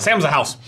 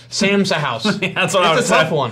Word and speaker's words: Sam Sa'house: sauces from Sam's Sauce, the hardest company to ever pronounce if you are not aware of how to pronounce it. Really? Look at that. If you've never heard it called Sam's Sauce before. No. It's a tough one. Sam's a house. Sam's a house. That's what I would have said.